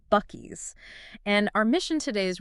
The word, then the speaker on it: Buc-ee's: B U C- Ee apostrophe s but pronounced Bies.